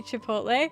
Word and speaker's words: Chipotle: prefer to go by how do you say Chipotle I say I I will say it Chipotle